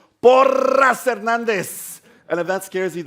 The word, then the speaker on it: Porras-Hernandez: por herandez that's right that's how I say it in ESP por herandez and if that scares